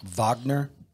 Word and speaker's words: Wagner: How the Russian mercenary group, it's spelled Wagner, but pronounced Wagner, it's Putin's private army, was behind the coup in Niger.